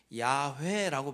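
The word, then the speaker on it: 야훼: 그래서 번역해 놓은게 여호와라고 번역을 해 놨는데 지금 신학자들은 그 단어를 가장 근사치로 발음하는게 야회라고 발음할 것이다. 이렇게 의견들이 모아졌어요. 그래서 원래 여호와라는 하나님의 이름은 야회예요.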